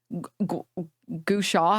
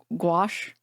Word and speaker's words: gouache: Gushaw, how do you pronounce it? Gouache. The Oh my god, I'm like butchering this dude. China will never give me citizenship. Guawa.